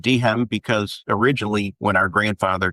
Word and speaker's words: Dehem: All these years, I've never been sure of whether your last name is two syllables or one syllable. And you're confirmed that it's two syllables. Yeah. There's still some people that say DM. just the D and the M. I've always said Dehem because originally when our